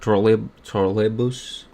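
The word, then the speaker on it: троллейбус: Ignore my accent, but that's how you say it in Russian. It's like trolleybus, I think. No, well, no, I know that's correct. It's the accent that's really, really off.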